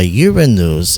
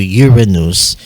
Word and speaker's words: Uranus: Now, one reason why Uranus exhibits a retrograde rotation on its axis, it's